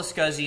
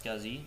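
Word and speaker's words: SCSI: So ls ssi pronounced as scuzzi which stands for small computer system interface. List all the scuzzy and stat devices like hard drives and optical drives. So let's do an ls scuzzy on our virtual machine.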